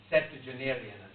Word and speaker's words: septuagenarian: is a big word, septuagenarian, rhymes with geranium.